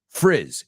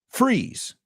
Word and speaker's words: frizz: Frizz. Eh. Eh. I know you know that sound in Spanish.